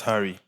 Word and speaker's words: HVRRY: Like I just took my Oh, first name, I just turned that A to a V because that's what everyone does.